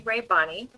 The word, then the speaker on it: Rabanne: I'm Rabanne. Ray And yes, Bonnie. Rabanne. Okay.